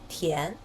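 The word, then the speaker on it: 田: the shape of the character it pronounces as Tien the characters on this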